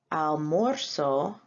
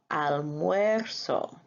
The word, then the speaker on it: almuerzo: So in the first person singular, we never say almuerzo, we say almuerzo. The O turns into a UE.